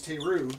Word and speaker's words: Teru: struggling with my name, I tell them my name's Teru, and then when they're trying to pronounce it, I say it rhymes with Day 2.